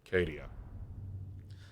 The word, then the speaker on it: Cadia: Long A is correct. Oh, you're all so sweet. It's pronounced Cadia.